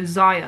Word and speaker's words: Xayah: with a zed or you could also spell it with an x i think and still get that z sound so xayah i just think it's